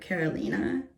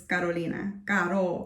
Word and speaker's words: Carolina: and because some people have said Carolina or kolina and that's not I'm just like no it's Carolina like like you know you have to know how to roll your RS in order to say my name properly uh and so yeah